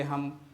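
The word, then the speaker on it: hymn: तो दोस्तों सबसे पहले हम साइलेंट लेटर एन से बने शब्दों का प्रोनाउंसिएशन करेंगे और अंत में इसके स्पेलिंग पर बात करेंगे।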